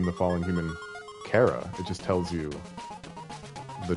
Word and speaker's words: Chara: Yeah, I pronounce it Kara. You say Chara?